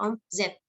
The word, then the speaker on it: omzet: Tuh, kalau di bahasa Indonesia pakai Z, omzet. Kita sebutnya dialek kita aja yang bilangnya omset, padahal omzet.